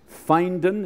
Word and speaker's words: Findon: The pulpit he presently occupies is in Findon, is that how you pronounce it? It's down in England, so I can't get the pronunciation right.